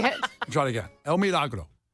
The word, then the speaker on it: El Milagro: People were I said El Milagro.